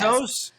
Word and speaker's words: Bezos: First of all, it's not even how you pronounce it. Second of all, she has a name. It's Lauren Sanchez. Bezos.